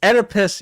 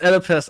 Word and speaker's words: Oedipus: say the word Oedipus Oedipus it's Oedipus you don't pronounce the O It's Oedipus I got you [